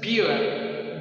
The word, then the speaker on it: bureau: When you see these three letters in all these words, you pronounce them as O, okay? We have this one, beer. Pay attention to this. Bureau, bureau, bureau.